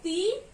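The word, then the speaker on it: तीन: Ta ko badi ki matra teen, teen.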